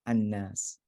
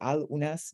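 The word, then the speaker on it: النَّاس: You don't say al unas, but it contracts into annas.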